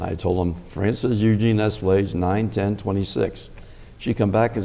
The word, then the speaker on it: Espelage: if you would, what is the correct pronunciation of your last name? Espelage. Espelage.